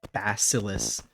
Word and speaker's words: bacillus: Please don't tell me my favorite bacteria is pronounced like bacillus.